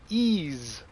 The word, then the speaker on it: Ys: cards well that sucks uh destruction all-stars uh ease nine uh monstrum nox for those not familiar ease it's if you read it it's y apostrophe s but it's pronounced ease it's a very very long running rpg uh